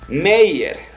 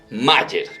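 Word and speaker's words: Meier: l y billy willy meyer media o sea m tiene yucatán y r osea mayer pero se pronuncia meyer billmeyer una persona un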